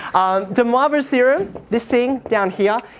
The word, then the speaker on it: de Moivre: And she told me, de, that's the easy part, moi, like as in me, and then, well, the way it's spelled, vr, okay? Not de Moivre, like he's not Spanish, okay?